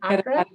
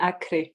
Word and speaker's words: Acre: Is it Carapana in Accra? Carapana and Acre, the state Acre.